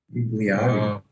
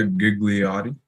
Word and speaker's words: Gigliotti: How do you pronounce his name? Gigliotti. Yeah, Gigliotti.